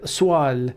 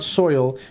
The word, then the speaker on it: Soil: It's me, soil, swal. Oh, you pronounce it swal. It's because it's the O-I sound in French is wa. You know, just accessoires, not accessories. Just so it's not soil, it's swal.